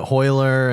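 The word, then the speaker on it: Royler: The Hoyler and Hoyler Hoist and Hoyson and all that. Hyson. Yeah, but their names It's all all start Rs. with R's, but Yeah. they pronounce it as an H.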